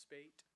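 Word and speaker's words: Speight: little gimmick because uh it is pronounced spate it's actually spelled s-p-e-i-g-h-t so that song uh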